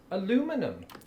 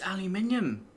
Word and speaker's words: aluminium: I pronounce this aluminum. It's aluminium.